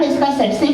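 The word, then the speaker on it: tsetse: इसका उच्चारण त्सेत्से मक्खी होता है।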